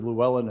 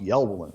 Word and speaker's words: Llewellyn: in from wisconsin and i called him mr llewellyn and that son of a gun screamed at me for mispronouncing his name because it was pronounced yellowing wow well if if